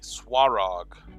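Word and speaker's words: Svarog: Now this guy is the Swarog. S-V-A-R-O-G, but the V is pronounced like a W from what I understand.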